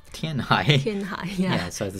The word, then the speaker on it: Tianhai: Yeah, well, he's the first character, I think, whose name is identical in Chinese and English. Yeah. Chinese. Tianhai. And English. Tianhai.